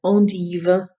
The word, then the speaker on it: endive: One of my very favorite veggies, because of its amazing versatility, is the endive, pronounced endive, sometimes called the Belgium endive in stores here in the United States.